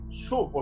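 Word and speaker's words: שוב: convertirse hermanos viene de una palabra hebrea que se pronuncia suppo se escribe psuv y esta palabra aparece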